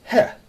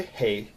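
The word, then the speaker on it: חית: isn't down let's go your next letter is het or some people say hey or the letter H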